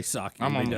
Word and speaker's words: Psaki: press secretary uh and how you say her name sake i call her if you if you look at the spelling of it rick it scares you just say soccer what that's because you